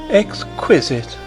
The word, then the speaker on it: exquisite: Exquisite. She repeated the word with a sarcastic inflection, putting the accent, as everyone put it on the second syllable.